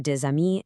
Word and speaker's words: des amis: It's the same for des amis and ses offices.